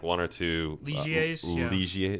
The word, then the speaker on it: Ligier: like one or two ligiers is that how do you say that something like that it's french right yeah it's not like it's pretty it's not a liger so and they're pretty